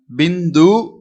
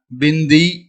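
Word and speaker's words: बिंदु: இதை நாம் பிந்து அப்படின்னு சொல்லுவோம். சில நேரம் நாம் பிந்தி அப்படின்னு சொல்லுவோம். ரெண்டுமே உச்சரிப்பு கரெக்டு, சேம் தான், சரிங்களா. பிந்து இல்லைன்னா பிந்தி அப்படின்னு சொல்லலாம்.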